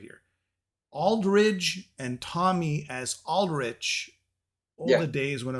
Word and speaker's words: Aldrich: the most part I get people will say Aldridge Doug Aldridge and they won't even think of it even if they know the spelling um but it's pronounced Aldrich rich yeah Aldrich versus Aldridge and uh Tommy